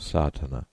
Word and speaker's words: Sadhana: about the pronouncing of sartana the accent falls decisively on the first a which has the broad sound of the letter contents one the relation